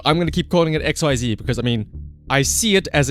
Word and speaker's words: XYZ: But no, apparently the correct way to pronounce it is Ecks-Why-Zee. But fuck that though, I'm gonna keep calling it X-Y-Z because, I mean, I